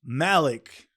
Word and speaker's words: Malik: no you're practicing but I've naturally always said Malik just because it rhymes with Ali Ali Malik it's easier